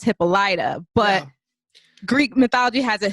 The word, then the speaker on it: Hippolyta: But Hippolyta is what they settled on, which is kind of good because that's what I'm used to.